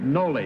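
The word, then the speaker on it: Nolle: Okay, everybody Noel Prost? Is that the way they pronounce that, Bud? You know, you're a lawyer. Noli is the first part of it. Noli? N-O-L-L-E, Noli Prost.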